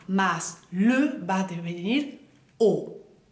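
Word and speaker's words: aux: A más le va a devenir O. O. A-U, acuérdense que es O. Bien, O. A más le, plural, va a devenir O también porque la X no la pronunciamos.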